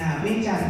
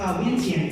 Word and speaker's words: Vientiane: Vientiane in my pronunciation, but in English we pronounce Vientiane, capital.